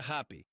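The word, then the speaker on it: Hapi: HPI se pronuncia Happy.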